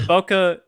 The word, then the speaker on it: bokeh: a weird word yeah it's bokeh basically the bokeh is the word for the background blur like